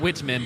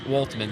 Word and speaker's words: Waltman: I may have not been pronouncing it right, but yes, we're aware that the goalie is Whitman, not Whitman, but Waltman.